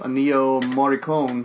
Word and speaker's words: Ennio Morricone: This was scored by, I believe it's pronounced Ennio Morricone, who did, like, Good, Bad, and the Ugly, all classic spaghetti westerns.